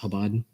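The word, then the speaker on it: Chabad: so before I see that motion just briefly in the spirit of what you debated um that the correct pronunciation is habad yeah just like my name it's okay we appreciate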